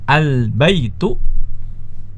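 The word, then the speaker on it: البيتُ: Ya, salah kalau kita membacanya dengan al-baitun, itu salah. Ya, al-baitun salah. Yang benar adalah al-baitu ya, al-baitu.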